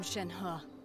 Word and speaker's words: Shenhe: look quite familiar so i'm wondering i am shen huh i roam these nights oh i've been saying